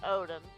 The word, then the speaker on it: Odin: Is it Odon or is it Odin? It's Odin.